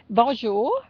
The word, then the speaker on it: bonjour: better much better yeah Bonjour Bonjour Bonjour hello right yes Bonjour Vanja it it's not Bonjour it's Bonjour Bonjour Bonjour Bonjour come on Thomas